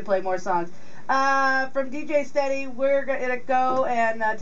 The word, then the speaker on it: StedE: Just search DJ StedE, and that's spelled STEDE. And it's sea like the ocean.